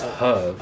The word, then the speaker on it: herbs: I know they can say the H is silent, but no. It's herbs.